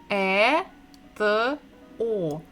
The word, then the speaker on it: это: So if we read the last word, it will be E, T, O. Eto, eto.